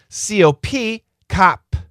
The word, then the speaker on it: cop: But if we stop the sound cob cob c o p cop cop but if we stop the sound cop so c o b c o p c co Let's do another one.